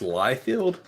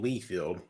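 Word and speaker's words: Liefeld: I bought that that's awesome yeah so it's pronounced liefield yeah all these years I've called him Lee field yeah it's light field life failed instead of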